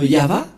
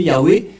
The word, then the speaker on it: Yahvah: La lecture de cette langue hébreu, voilà donc le terme Yahva. Yahva. Et on va voir comment on prononce cette parole. Yahva, Ilshama, Yahva Shmo. Et nous allons voir son sens par ici, puisqu'il s'agit d'une fausse translittération par les catholiques romains qui ont utilisé Yahweh, un terme qui n'existe pas.